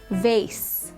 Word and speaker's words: vase: I pronounce it vase, but I do really like the way it's pronounced vase. It gives it more of like a vibrant sound to the s. It sounds almost similar to a zed or a z.